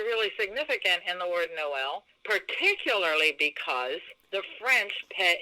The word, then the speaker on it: Noël: yeah and that means when you put that above a vowel that it's almost like creating a separate syllable for that word it's not just an accent it's like it's almost like a separate syllable for that letter so it's not know like if it was the name of someone you might say no oh no it's Noel because of that accent so this is the